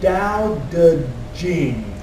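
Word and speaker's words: Daodejing: things what's on the line there is it's pronounced the Dao de Jing okay that's the book of Taoist AIDS okay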